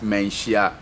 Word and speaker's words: Manhyia: he's not frightening okay if he can pronounce a proper name of the palace museum dementia palace museum yeah people when they look at that is it throws them off perfect yes so it's mancia palace museum and this place was